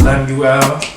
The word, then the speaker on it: Lemuel: My name is Lemuel, you know, pronounced Lemuel.